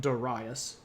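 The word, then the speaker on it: Dārayavauš: uh this of course looks like Darius it's pronounced dasas and that's okay you can call him Darius and people will know who you're talking about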